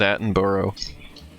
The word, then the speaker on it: Attenborough: just it's just bruh if you have quotes Borough on the end of a name you just pass it bro yeah here it's borough like we have like there's like cities with it at the end of them and it's always borough yeah I'm pronouncing your